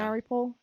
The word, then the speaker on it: Mariupol: no, I mean, I think like from what I saw of the 20 Days in Mariupol, is that how you pronounce it? I believe so. Sounded Maripol. right, yeah. Mariupol.